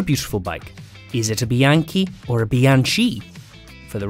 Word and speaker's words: Bianchi: villier here's another beautiful bike is it a bianchi or a bianchi for the record it's bianchi who probably said with a better italian accent